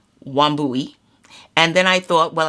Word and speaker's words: Wambui: Wambui, it's not so many syllables and so many words that sound differently. And it's just like it's spelled.